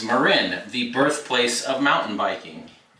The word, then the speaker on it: Marin: on the graphics marin a lot of people pronounce marin incorrectly they call it marin and this company's not marin it's marin the birthplace of mountain biking this has an msrp of 2569.